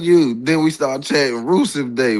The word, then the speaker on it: Rusev: Can you please tell him how to pronounce the man? Rusev.